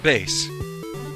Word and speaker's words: Bass: evil twins here all right hi bass it's pronounced bass well it certainly is but that doesn't help